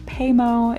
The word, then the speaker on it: Paymo: show you guys here this tool is called paymo it's spelled p-a-y-m-o so if you want to check